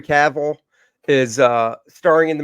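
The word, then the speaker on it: Cavill: that is recent um Henry cavil did I did I say it right this time C that's it Henry caval is uh starring in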